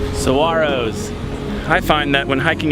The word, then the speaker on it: saguaro: can't destroy them and there's a silent G in their name and my friend George can tell you exactly what the call saguaros I find that when